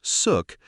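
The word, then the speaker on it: Xuc: Born in the 1940s, the name suk, pronounced suk, comes from the quirky shook shook sound made by the clarinet in traditional folk music.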